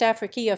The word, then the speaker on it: Ifriqiya: Arabic Africa, feminine noun, and Ifriqiya, now usually pronounced Afriqiya, feminine Africa, from Afara